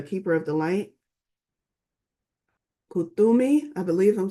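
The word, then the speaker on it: Kuthumi: look within you already know what you see Kumi Kumi it gives me the phonetical explan uh word phonetical pronunciation Kumi is an ascended master who appears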